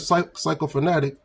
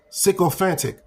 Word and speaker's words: sycophantic: Now, when you look up this word psychophatic, let me look it up. Sycophantic, Salakia. Sycophantic. I pronounced it wrong.